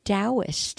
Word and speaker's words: Taoist: and it's by the Taoist and that is spelled T it Taoism starts with a T not a D but that it's pronounced as D so T for Thomas